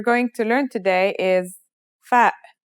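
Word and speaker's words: فاء: The first letter we're going to learn today is fa. Fa is pronounced just like the English F.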